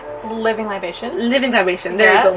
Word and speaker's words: Living Libations: And I'm trying the Living Liberation. I always say it wrong. Living Libations?